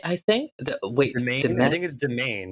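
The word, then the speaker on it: demesne: it the main domain you do want to stress on the second syllable on the main syllable domain pretty straightforward once you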